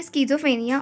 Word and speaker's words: schizophrenia: का हमारा टॉपिक है स्जो फ्रेनिया और सिजोफ्रेनिया इसको ऐसे दोनों टाइप से प्रोनाउंस करते हैं सो द वर्ड स्कज